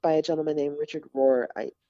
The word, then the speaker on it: Rohr: A friend of mine is reading and listening to and taking in some work by a gentleman named Richard Rohr, Rohr, I believe.